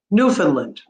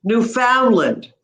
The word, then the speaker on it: Newfoundland: So sometimes people will say Newfoundland. Some people will say Newfoundland. And some people will say Newfoundland and Labrador and stress at the end, right? So it depends on where you stress.